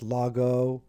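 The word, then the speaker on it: λόγῳ: omega Yoda subscript and that is pronounced Lago because the Yoda does not affect the pronunciation and Omega is there so we have la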